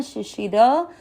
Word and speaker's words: शिशिरः: चौथा चरण शिशि, दोनों श सेम है और र में अ मिक्स करना, शिशिर, र में अ की मात्रा तो विसर्ग को पढ़ेंगे ह, शिशिरः।